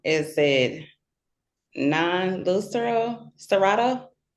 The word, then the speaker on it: Naun: Is it non lucero stado? Yeah. Na is the name. That's how you pronounce it. Like you know when you say good afternoon.